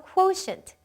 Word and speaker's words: quotient: 네, 여기서 quotient. 발음 주의해서 한번 들어보세요. quotient.